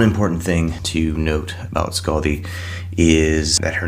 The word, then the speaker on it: Skaði: name is Scaldi, not Skadi. She is not a Star Trek character. The D in her name is actually an F. It's pronounced like the TH in weather or then.